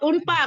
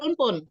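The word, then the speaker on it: عنفًا: Ustaz unpa bacanya bukan unpun. Unfa karena dia sebagai maf'ul bi dari ya unpa ya.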